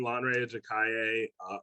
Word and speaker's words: Lanre Ajakaiye: so that and that was a pretty good pronunciation so hello hello everyone lanrey jakaye i'm the president and ceo of 25 bow